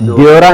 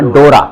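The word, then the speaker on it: Dora: एरगर baby बैठा सी से, से वी सेजर देवी जोरा यहाँ पे आपने उमलाउट लगा दिया ओ के ऊपर, ड्योरा नहीं बोलना, डोरा, डोरा क्लियर साउंड, डोरा।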